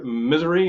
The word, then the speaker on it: Missouri: from Missouri Missouri and one time I said Mis misery and he's like yeah that's how to pronounce it he left Nick says